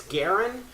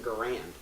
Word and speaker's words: Garand: produced in large quantities Garen he pronounced his own name Garen but US soldiers pronounce name of the weapon garand and so it depends